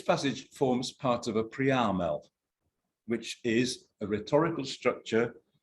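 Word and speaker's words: Priamel: by eminent German scholars, which is why the term is stressed on the 2nd syllable. Das ist eine Preamel.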